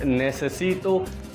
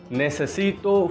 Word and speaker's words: necesito: Latin American Spanish but if you will be speaking it in Spain Mainland then it will pronounce asito like the sea will sound like that th of English not necesito like this necesito for Latin America the th sound for Spain Mainland I have told you